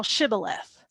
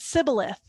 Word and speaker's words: Shibboleth: a King James version, say now Shibboleth. And so he said, Sibboleth. for he could not frame to pronounce it right.